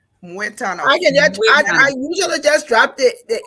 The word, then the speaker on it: Mwetana: Learn to pronounce it. Yes, it's Mwetana. Mwetana.